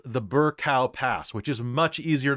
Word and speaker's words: Birkau: that guards the Tehuta approach, now called the Birkau Pass, which is much easier to pronounce. B-I-R-K-A-U.